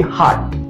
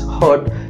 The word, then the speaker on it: heart: People often do the pronunciations error between the hurt and the heart. So the correct pronunciation of this word, which is this dil, it's going to be heart, heart, heart. It's very simple. H-A-A-T, heart, like this way.